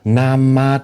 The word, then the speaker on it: nama: Inilah nama Tuhan, pencipta segala makhluk. Jadi Kristen Arab, Bang, Allah itu nama. Ini cara bacanya N-A-M-A, nama, bukan N-A-M-A, jabatan, gitu bukan.